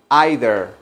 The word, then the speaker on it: either: o la otra y esa palabra either se puede pronunciar también either Okay entonces Qué puedo